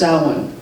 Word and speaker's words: Samhain: spelled Samhain you see that but it's actually pronounced Alan that's how you say it I did hear a French person on YouTube say call it Sal Wayne which seemed to make better sense but anyway